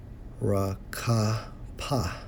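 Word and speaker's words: רחף: In the Hebrew, Strong's H 7363, pronounced as rakapa, to hover.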